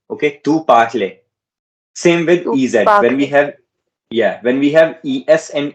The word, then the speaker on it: parlent: It is not pronounced at all. ENT is not pronounced at all. It's just pronounced as in this. Elle parle. Okay, you're pronouncing it as parle, but you just write it. When you write French, you have to write ENT at the end, but you never pronounce ENT.